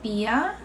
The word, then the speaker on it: Bier: 맥주는 das Bier, die Biere. 네, 발음은 영어랑 같은데 스펠링이 좀 다르네요.